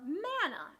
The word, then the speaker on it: manna: called what they gathered mana or manna as some people pronounce it and god instructed